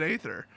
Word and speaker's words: aether: lazy, easy way out, I'm going to continue to pronounce it aether. I mean, they wrote it, I pronounce it as written.